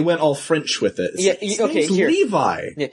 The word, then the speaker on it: Levi: It's like, no, you call him Revi because it was a manga and you didn't have like a you you weren't able to hear the way it's supposed to be pronounced. Yeah. So, you just went with Revi because you're stupid. But then then you can hear people say it out loud and oh, it's Levi.